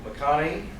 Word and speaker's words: McConachie: welcome back Dr Michael mcconnie pronounced like the actor's name and the actor spelled his name wrong um Dr bakani is